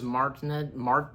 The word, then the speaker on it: Martinet: Even the original voice of Mario, Charles Martinet, how's his last name pronounced, do you know?